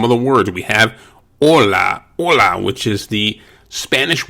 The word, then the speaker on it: hola: hear the h here also take note that the o is pronounced hola buenos dias buenos dias